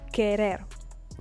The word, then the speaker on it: querer: I will repeat it, the U without the two dots on top, and between a Q or a G, and an E or an I is not pronounced.